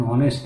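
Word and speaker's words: honest: sound is very important in that और a silent H in that thing an office an hour N orange an ऑनेस्ट employ an apple an ऑनेस्ट की हम बात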